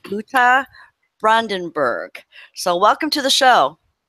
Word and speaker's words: Ute Brandenburg: new writer and let me know if I'm pronouncing this right wrong it's Lucca Brandenburg so welcome to the show thank you and